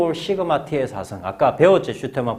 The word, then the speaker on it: 시그마: 수학에서 너희가 요즘 확률 통계 안 배우는 사람이 많긴 한데 이 시그마, 이걸 시그마라고 읽습니다. 시그마.